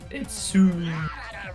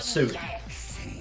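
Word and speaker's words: Siu: Is in when Ronaldo when people intend to say it properly, it's Sue, not Sui.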